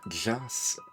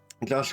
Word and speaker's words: Josh: Soundtrack by Joss. Can't pronounce Josh, apparently. Wanted to pronounce it like Joss, apparently. Josh Welchel.